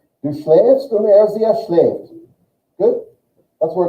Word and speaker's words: schläft: RCS schlaft, nein. RCS schläft. Everyone say Say it like this. Just say it like this. Say schläft.